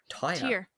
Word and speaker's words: Tyre: It's literally spelt Tyre, like if you put a tire in your car.